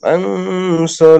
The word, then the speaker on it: عن: عن দেখেন عن একটা হলো কি হামজা নুন জবর আং, হ্যাঁ, আর একটা হলো আইন নুন জবর আং, ঠিক আছে? এখন এই জায়গায় আইনটা কি গলাটা চেপে উচ্চারণ করতে হবে, আং আং আং عن আইন।